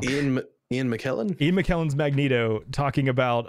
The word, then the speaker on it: McKellen: It was the Ian McKay Magneto. Jesus, I just pronounced the character wrong. Ian McKellen?